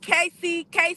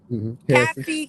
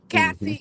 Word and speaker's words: Cassie: This lawsuit with Casey, is that how you pronounce it? Cassie. Hmm. Cassie, yeah.